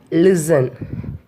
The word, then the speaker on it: listen: Then T in listen. L-I-S-T-E-N. Here we won't pronounce the letter T.